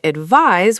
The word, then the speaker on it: advise: And advise is pronounced with a Z sound.